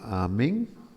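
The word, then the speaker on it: אָמֵן: Pero si lo vocalizo como Amén, esa forma diferente de vocalización significa, bueno, es el tan usado por nosotros. ¿Quién no conoce la palabra amén?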